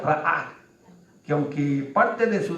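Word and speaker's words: רָאָה: La palabra vieron aquí viene de la palabra hebrea que se pronuncia ra'á, que aunque parte de su definición incluye ver, mirar, impresionar, etcétera, etcétera, etcétera.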